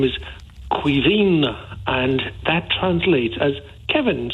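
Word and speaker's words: Caoimhín: as that absolutely so you pronounce c a o i m h i n as Quine as Kevin Quine and it's it translates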